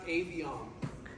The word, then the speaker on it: Aviom: It's pronounced Aviom.